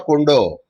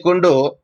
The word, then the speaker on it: Kundu: I don't know, Kundu or Kondo. I don't know how do you pronounce this. Kundu, sir.